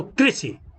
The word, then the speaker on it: कृषि: अब री, री का री इसमें लगा तो कृषि, कृष्ण। हिंदी में इसका उच्चारण री के रूप में किया जाता है, कृषि, कृष्ण।